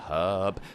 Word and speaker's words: herb: we have the freshwater herb pronounced with an H because it's spelled with an H Americans wide why do Americans say herb it is verb with an H you fools that's mr.